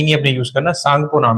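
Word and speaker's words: Tsangpo: तिब्बत में ब्रह्मपुत्र का जो नाम है ये बहुत बार क्वेश्चन आया उसको बोलते हैं सांगपो लिखने में टी आता आगे टी साइलेंट है टी नहीं आपने यूज़ करना सांगपो नाम है इसका क्या नाम है सांगपो और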